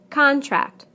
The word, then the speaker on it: contract: Contract, contract. Object, object. Permit, permit. Again, we stress the first syllable in the nouns and the second syllable in the verbs.